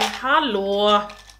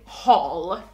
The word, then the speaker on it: Hallberg: it in Swedish, so Linda, I think it's the same, but Hall, you say Hall, we say Hall, and then you say Berg, we say Berg.